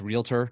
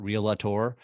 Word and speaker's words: realtor: uh say it right it's realtor not real LaTour um yeah those kind